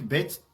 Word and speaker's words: Beth: Bête s'écrit de cette manière.